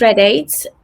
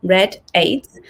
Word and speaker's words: Rediat: so my name is red aids um it's pronounced as in the color red and number eight so red aids i am originally from